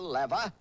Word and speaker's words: lever: the six simple machines the L or as some pronounce it the lever the incline plane the